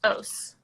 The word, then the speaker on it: Oas: I'll say it right it's definitely not the most common it's os-- Oh smell it Oh a s it's Norwegian so okay so cool awesome